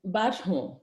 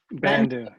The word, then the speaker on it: Bandu: Badhu, did I pronounce that right? Bandu, yeah.